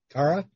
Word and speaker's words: Tara: like it's tara and that's how it's pronounced in ireland and then did they